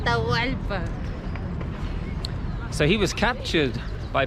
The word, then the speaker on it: Atahualpa: But the great Incan leader at the time, Atahualpa, how do I pronounce? Atahualpa.